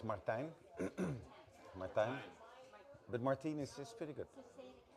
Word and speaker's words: Martijn: Martijn. But Martijn is pretty good. So say it again. Martijn. Martijn. Martijn. Hein. Time, like it rhymes with time, Yeah. but with an N.